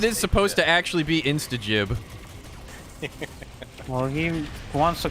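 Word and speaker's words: instagib: __ ] band so you're cool with saying insta gibb but i'm not i believe it is supposed to actually be instajib well he wants to call it jib because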